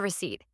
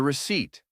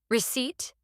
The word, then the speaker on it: receipt: And then you get the receipt. The receipt, the small paper that shows what you paid. Listen carefully. Receipt. The P is silent. You do not say the P.